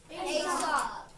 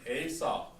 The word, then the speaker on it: Aesop: So you would think Aesop, but they pronounced it, or we think how his name was pronounced was Aesop, okay?